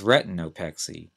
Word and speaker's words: retinopexy: damage to the macula the next term is retinopexy re e t i n o p x